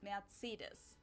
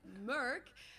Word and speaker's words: Mercedes: this Mercedes in German we pronounce it matsidas so Mercedes Mercedes it's really pretty different and yeah it's really different this is I've also heard that in England people say this Merc um German will not know what you're talking about if you say that just for your information